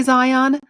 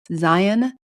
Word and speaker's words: Zion: Now I say Zion. All the locals tell me I say it wrong. It's Zion.